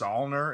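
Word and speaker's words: Saulnier: of is jeremy and i believe it's all nur is how you say his last name but he directed murder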